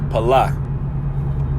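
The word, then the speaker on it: פלא: That word separate in the Hebrew is pronounced palah.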